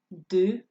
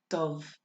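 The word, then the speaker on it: dubh: Black, du, or it can also be pronounced dove.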